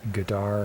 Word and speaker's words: Qatar: This is the country that has about 12 different ways to pronounce it. They called it gutter for a long time, and Gadar and Qatar. I think they're calling it Qatar now.